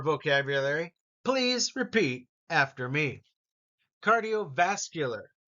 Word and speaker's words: cardiovascular: please repeat after me cardiovascular notice it's vascular is is the emphasis here cardiovascular stretching Athletics competition stamina